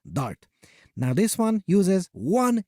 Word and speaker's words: D4RT: If you want to sound really cool, pronounce it as DART.